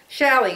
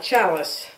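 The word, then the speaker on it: challis: super cute look under shally c-h-a-l-l-i-s they should call it chalice because that's how it's spelled here's another one yard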